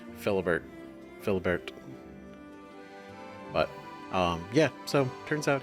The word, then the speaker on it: Philibert: out the whole fate of Maximus, and how Philibert, which I now know that's how his name is pronounced, at least one of the knights said his name, Philibert.